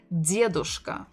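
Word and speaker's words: дедушка: form would be diadoska stressing the first syllable diadushka foreign so this is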